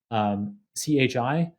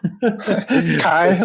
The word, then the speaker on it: CHI: You presented it at top conferences like CHI, the Computer Human Interface Conference, which I think you pronounce in a much cooler way. Chi, like the Greek letter.